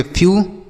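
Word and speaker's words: few: एफ ई डब्ल्यू इसे हम पढ़ेंगे फ्यू। एफ ई डब्ल्यू फ्यू। एस ई डब्ल्यू इसे हम पढ़ेंगे सी।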